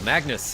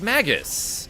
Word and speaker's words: Magus: Magnus, hey. Oh, no, it's Magus.